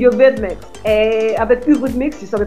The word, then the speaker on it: Eurythmics: À cette époque, quand elle m'a appelé, j'ai pas tout compris avec la prononciation de Eurythmics, parce que nous on dit Eurythmics.